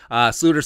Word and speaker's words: Sloter: Sluter signs with the Jaguars. Remember, it's a Dutch pronunciation.